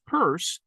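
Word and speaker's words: Peirce: I've suggested that Charles Sanders's purse yes that's how it's pronounced um index or indexical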